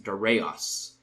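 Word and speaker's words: Δαρεῖος: became darush or darus in ancient Greek it was rendered as daros spelled D a r EI I o or if you prefer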